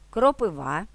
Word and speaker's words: кропива: фартух чорнослив граблі чорнозим наголос на третій склад ставимо у слова листопад кропива запитання сторінки каталог вантажівка